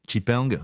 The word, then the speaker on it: XPeng: On peut par exemple citer XPENG, souvent prononcé chipeng en français, qui ne cesse d'augmenter